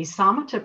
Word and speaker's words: Samatha: Not required, you can do whatever you want, but this is a wonderful ancient practice, and it's spelled S-A-M-A-T-H-A, pronounced Samatha. And the word Samatha is a Pali word, which was the language that the Buddhist teachings were recorded in.